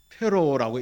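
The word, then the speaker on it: Pharaoh: 이게 영어로 말하면 파라오입니다. 파라오. 페로라고 읽는데 우리말로는 파라오라고 하고 성경을 번역할 때 그냥 바로라고 이렇게 번역을 했습니다.이 바로가 누구냐고 누구냐고 하면 이집트의 왕이다.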